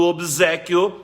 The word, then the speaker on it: obséquio: OBS absinto lá e o tal do obséquio nós pronunciamos com som de z é mais uma daquelas